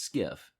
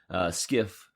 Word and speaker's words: SCIF: departmentalized information facility SCIF but we pronounce his skiff as a quick quick way of saying it skiff by insiders a skiff is required